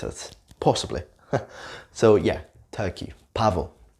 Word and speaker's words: pavo: B and V sound the same in Spanish. It's not like in English.